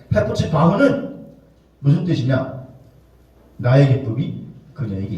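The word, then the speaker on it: חֶפְצִי־בָהּ: 여러분, 헵시바라는 말이 정확한 발음을 하면 헤프츠바흐라는 말. 헤프츠바흐는 무슨 뜻이냐?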